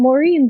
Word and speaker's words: Maureen: marine today oh um i like that my name rhymes with what i do uh because it's fun introducing myself oh i'm maureen the marine biologist i'm